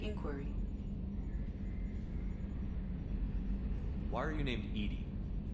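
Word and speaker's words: EDI: why are you named ed ed is the phonetic pronunciation of Ed I that is an acronym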